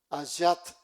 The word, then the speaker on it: ayat: Esta se subdivide en versículos que se llaman ayat.